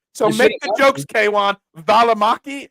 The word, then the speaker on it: Valimaki: Valimaki? Am I anywhere close? Yeah, that's exactly how you say it.